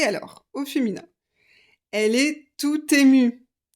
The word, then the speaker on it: tout ému: là j'aiécrit tut et je fais la liaison tout ému parce qu'on a une voyelle tout content il n'y a pas de liaison parce qu'il y a une consonne il est tout ému